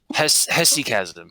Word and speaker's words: hesychasm: told me about something called Haysackism. Is that how you say it? You guys know what I'm talking about? No idea. Yeah. Haysackism. I'm probably butchering the pronunciation of that. Hesychasm.